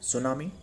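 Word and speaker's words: tsunami: सुनामी कहा जाता है सुनामी यह टी साइलेंट वड है टी एस यू एन एम आई मतलब यह टी को आप रिप्लेस कर दो तो करने से बाद भी यह सुनामी होगा बट यह इसका स्पेलिंग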